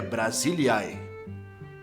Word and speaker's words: Brasília: que quer dizer região a pronúncia correta é Brasilia a primeira referência ao